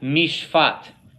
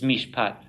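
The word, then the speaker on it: מִשְׁפָּט: The Dagesh is being used here to tell us this is the hard sound of pay, not the soft sound.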